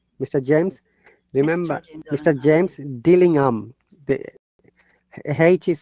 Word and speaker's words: Dillingham: bearing the name mr james remember mr james dillingham the haiti is silent dillingham do you remember if there is age in